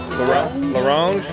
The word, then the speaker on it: La Ronge: grumpy and, I don't know, stubborn, I could La Ronge, right? Is that how you say it? La Ronge, Saskatchewan.